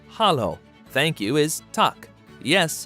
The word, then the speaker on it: halló: Hello in Icelandic is pronounced halló.